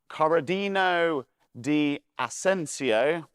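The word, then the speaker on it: Corradino D'Ascanio: needed cheap, reliable transport, and an engineer called Corradino di Asensio, yep, that's exactly how you pronounce it, came up with this revolutionary design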